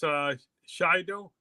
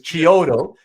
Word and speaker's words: Chiodo: Okay, so it's pronounced Shido. I don't know. We've had this discussion before because I always just said it. I always used to say it the way it was spelled, which is Chiodo.